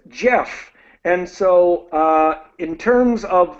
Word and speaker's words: Geoff: So I use the British spelling, but I pronounce it exactly the same as the American spelling. So Geoff.